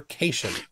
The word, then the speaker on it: cation: classes at University level he doesn't know what a cat ion is when told that it's pronounced cation turn does it go